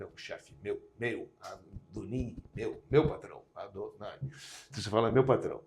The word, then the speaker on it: Adonai: Agora, quando ele está escrito, a gente não pronuncia ele ipsis literis, a gente pronuncia ele Adô, depois Nai, Adô, né, que é o nome de Deus.